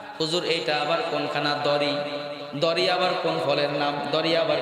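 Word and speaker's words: ضريع: খানা নাই ইল্লা তবে দরি খাবার দরি কি শব্দ এই দরিটা আরবি আপনারা এখানে উচ্চারণ কঠিন শব্দ দুই অক্ষর দুইটা আইসা গেছে দর এটা কঠিন অক্ষর আবার আইন দরি কি শব্দ ভাইয়া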